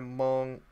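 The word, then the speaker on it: Mongeau: Oh, that's Tana Mojo or however you say her name. Mongi. Tana Mongieu. Yeah, Tana Mongieu.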